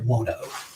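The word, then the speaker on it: Buono: How do you say his last name? Dwayne Wano. Wano, B U O N O?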